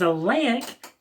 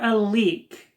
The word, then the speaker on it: Leyak: which means bad and it has been pronounced both as a lake or a leak and as the name